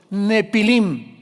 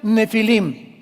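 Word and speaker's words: Nephilim: de gigantes llamados los nepilim. Esa palabra, si tienes tu Biblia dice gigantes, ponle nepilim con ph. Nepilim se pronuncia nefilim y significa caídos.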